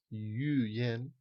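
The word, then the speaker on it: yǔyán: Per tant, yu yen, vale? Una cosa que s'escriu amb yu yan, es pronuncia yu yen perquè el so, la Y es considera que és una, un so I.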